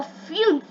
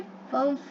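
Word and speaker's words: fünf: Fear means 4, और फ्यून्फ, फ्यून्फ, okay, फंफ नहीं, फंफ नहीं, ओके, फ्यून्फ 5, 6, 6, ओके।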